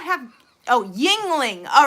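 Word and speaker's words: Yuengling: a good brand embroidery on it that's still pronounced tingling. Really? Would not have. Oh, Yingling.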